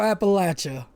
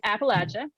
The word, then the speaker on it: Appalachia: So, again, you know, so it's Appalachia typically. Now there are regions that pronounce it Appalachia, and that's legit. But for this podcast and this game, it's Appalachia, and you can think about it as in I'm going to throw an Appalachia.